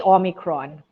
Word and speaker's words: omicron: omicron or omicron okay so i would say omicron but guinea gaming some people actually use it